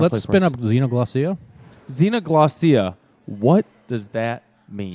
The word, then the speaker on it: Xenoglossia: Xenoglossina. Am I saying that correctly? No, not Xena the Warrior Princess. Damn it. Xenoglossia.